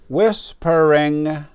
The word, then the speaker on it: whispering: Jennifer is whispering to her sister. Jennifer is whispering to her sister. Whispering. We don't pronounce the H.